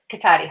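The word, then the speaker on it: Cotati: Like a K. K. Kotati. Hard.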